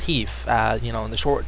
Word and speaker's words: HEIF: You'll see high efficiency, which is, you know, pronounced HEEF.